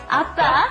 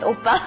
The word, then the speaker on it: Appa: Appa. Rhymes with oppa.